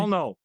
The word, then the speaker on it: Pollnow: And is it Paul now? That's how you pronounce it properly. Palno.